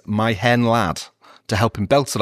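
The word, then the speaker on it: Mae Hen Wlad: So his teammates like Gary Speed and John Hartson told him to just write it down phonetically as my hen lad to help him belt it out before matches.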